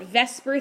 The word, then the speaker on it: VSEPR: of rules is called I call it Vesper theory I know that's not really what the abbreviation look is spelled like but that's kind of